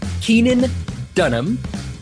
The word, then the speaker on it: Keenan Dunham: you've met him now uh we it's Keenan Keenan Dunham did I pronounce that correctly correct yeah all right awesome